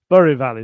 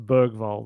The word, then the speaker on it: Bergvall: But I'm going to have to remember Berival. Berival is so different to Bergvall that I've been saying.